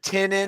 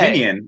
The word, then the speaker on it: Tynion: It's Tinin. And Tinin. That's the worst. Yeah, before I thought it was pronunciation yet. Tinian.